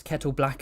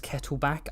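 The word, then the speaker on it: Kettleblack: hair as damn fair or some people pronounce kettle black as Kettle back I still hear this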